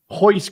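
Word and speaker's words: Royce: one his name is Hoist Gracie starts with an R but pronounced with an H for an extra half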